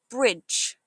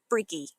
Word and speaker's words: bridge: Watch for the D sound at the end. It sounds like a J. So, it's bridge, not brigy.